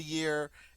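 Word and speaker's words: huit: right eight Ye Ye notice this the H is silent it starts with that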